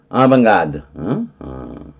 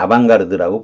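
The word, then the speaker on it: avant-garde: 아방가드. 아방가드. 그죠? 브로식이라니까 아반트의 t는 발음이 안 될 거고 아방가드. 가흐드 이렇게 되겠지만 뭐 우리가 아방가르드라고 보통 그러잖아요. 가르드 이렇게 하죠.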